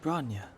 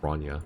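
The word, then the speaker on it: Bronya: What about Braa? Why isn't she here? I forgot it's pronounced Brana.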